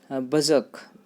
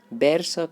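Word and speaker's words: berserk: English में word है बजक, BER। इसको प्रोनाउंसिएशन देखिए, बैर शक नहीं बोलेंगे, बजक बोलेंगे, आर यहाँ पे साइलेंट रहता है, बजक।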